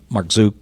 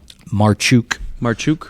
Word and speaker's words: Marchuk: Clearly, Marchuk actually is how you say his name. Say it again? Marchuk. That's the Polish pronunciation.